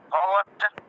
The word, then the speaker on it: ভগবত: ভগবত গীতা বোঝা গেল ভগবতটা একটু লিখে দেখাবেন ভগবত ভগ বটা আছে না বটাকে ওয়া হিসেবে উচ্চারণ করবেন ভগবত ভগবত শ্রীমত ভগবত গীতা গীতা